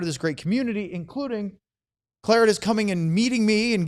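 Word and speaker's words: Clarotus: Clotus? the I thought it was Clorotus, and he said he He calls himself Claritus.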